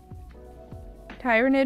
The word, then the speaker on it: Tyranid: how to pronounce tyranid I remember now tyranid maybe cuz like tyrannis fors Rex oh this one's already considered clean my bad all right let's say t not tie it's an ongoing debate